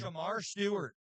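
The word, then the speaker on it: Shemar Stewart: Uh what him uh how do you pronounce his name? Samar Stewart.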